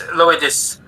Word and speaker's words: Lloydis: It's Lloydis, Old Saxon for Leeds. I'm from Leeds, UK.